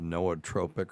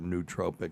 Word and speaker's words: nootropic: function it is a so-called nootropic or nootropic depending on how you want to pronounce it and uh it improves